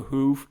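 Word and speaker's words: Hu: the band The well not the who but the who the Mongolian death metal band no so there's a Mongolian death metal band called The Who except it's spelled uh h-u not w-h-o um and so they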